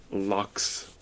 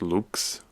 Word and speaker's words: Lux: Lux is just, actually I think it's supposed to be pronounced Lux, which is like light. That makes a lot of sense because also the cover is that.